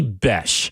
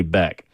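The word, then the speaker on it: Bech: pronounced because it's technically Bes. And I think that's so ridiculous. And I get that there's an H in there, but it really screams like it should say Beck because I called him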